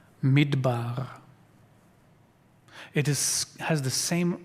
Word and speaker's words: midbar: mitbar in in English letters you would spell it m d b a r midbar it is has the same roots in Hebrew